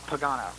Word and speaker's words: Pagano: Okay, but the Pagano was pay, right? Yeah, it's interesting. People when we were younger used to pronounce it differently when they would say my brother's name. I'm not sure why, but they used to call me Pagano, but it's Pagano. Pagano.